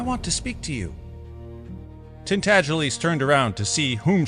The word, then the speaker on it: Tintagelies: The name is pronounced Tintagelies, but as most people would not take the trouble to pronounce it correctly, they called him Miggs for short.